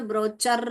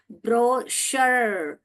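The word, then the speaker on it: brochure: ब्र औ ब्रो श ब्रोचर चर नहीं है। च बोलेंगे तो ब्रोचर हो जाएगा। ब्रो शर ब्रोकर ये तो ब्रोकर नहीं है। हम क तो नहीं डालते हैं। हम श डालते हैं यहां पे।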